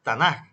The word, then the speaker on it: Tanaj: forma casi final verdad se pronuncia suave como una jota no como una K por eso es tanaj y no tanaj como tal entonces la